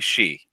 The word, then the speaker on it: Shi: succinctly yeah it would be it would be she she got it yeah uh so where are